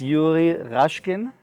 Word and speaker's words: Yuri Rashkin: It's Yuri Rashkin. Or did I pronounce it right?